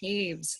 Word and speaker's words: Toews: Yeah, my last name is pronounced Taves.